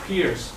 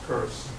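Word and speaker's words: Peirce: you would might think that it should be pronounced peers but it should not be it's a nice curse uh he says there are only three ways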